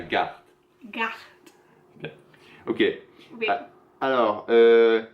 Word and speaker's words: garde: Il faut prononcer le R, il ne faut pas allonger le son précédent, comme on fait en anglais. C'est pas la garde, c'est la garde.